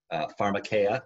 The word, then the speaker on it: pharmakeia: you know Kristen had a line a while back about pharmakeia and I know that's the right pronunciation because I listened to the Perdita week's audiobook which is wonderful I